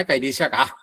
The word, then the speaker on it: കർശക: എന്നൊരു പേര് വ്യസന അത്കഴിഞ്ഞ കർ ശക വിസർഗ്ഗം കർശക അത് കരിശക എന്നാണ് ഉച്ചരിക്കുക എന്ന് മാത്രം കരിശക രി എന്നുള്ള തരത്തിലാണ് ർ എന്നുള്ളതിന ഉച്ചരിക്കുക കരിശക വ്യസന കരിശക കൃഷ്ണാവ്യസന